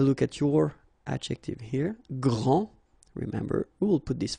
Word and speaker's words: grand: elles sont les plus grandes. Okay, so phonetically what you can hear is that this first form here for the masculine, grand, so you don't pronounce the final D, will be exactly the